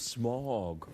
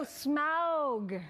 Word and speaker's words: Smaug: The desolation of Smaug. Did you say it like that? Smog? Not smog. Well, No, Smaug. who says smog? Elvish people. Elvish people might say smog, but I'm not Elven. So, well, you should learn to say it the appropriate way.